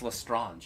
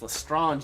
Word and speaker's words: Lestrange: Bellatrix Lestrange. Am I pronouncing her name right?